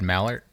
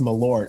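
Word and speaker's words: Malört: Have you had Mallard from Chicago? Yeah. I've heard it pronounced Malort.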